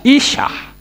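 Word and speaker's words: אִשָּׁה: berperan sebagai suami sementara perempuan itu alef Sin he membacanya Isah Nah ada dua huruf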